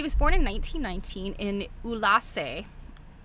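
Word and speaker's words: Ulassai: Anybody can get their hands on some thread, So she was born in 1919 in Ulassa. It's spelled Ullassai, a remote village in the mountainous interior of Sardinia.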